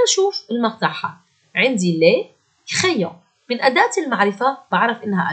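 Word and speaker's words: les crayons: الكلمة بيلعب دور الإي، فالآ مع الإي تعطي صوت إي مع بعض، فراح يصير كريون، لي كريون ومعناها أقلام الرصاص. الاو ان حكينا عنها اكثر من مره انه صوتها او، والاس لا تنطق ابدا.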